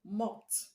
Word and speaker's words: mopped: Now the word mop ends in the sound p, p, which is voiceless, which is voiceless. Is among the sounds I gave you. So you're going to pronounce the past tense marker as t, t.